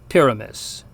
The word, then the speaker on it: pyramis: Whether long or short, it falls somewhere between the U sound we heard in unus and the short I in sit. So anyway, the word for pyramid is pronounced pyramis.